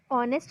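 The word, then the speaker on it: honest: लेकिन जो H word है, वो वर्ड जो है वो ऑनेस्ट जब हम पढ़ते हैं तो एच इज़ a silent word, तो हम एन लगाते हैं उसमें.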